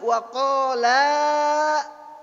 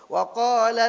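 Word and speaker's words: وَقَالَا: Alifnya enggak kelihatan tuh. Di dalam bacaan kita enggak kelihatan. Pertanyaannya dalam tulisan ada enggak? Ada. Maka membacanya bukan wa qala alhamdulillah, wa qala alhamdulillah. Ditekan, diangkat sedikit.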